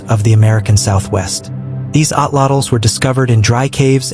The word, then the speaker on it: atlatl: A lot of English speakers say Atlatl or Atlatl, but in Nahuatl, the final L isn't its own syllable, so the correct pronunciation